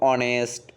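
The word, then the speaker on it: honest: আবার তুমি চিন্তা করো অনেস্ট, অনার, এখানে এইচ থাকা সত্ত্বেও উচ্চারণটা কার মতো হচ্ছে, অ এর মতো, অর্থাৎ ও এর মতো, এজন্য কি বসবে এখানে অ্যান বসবে।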